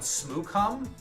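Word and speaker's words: Smoochum: Uh, are you talking about Smoocom? That's how it's pronounced.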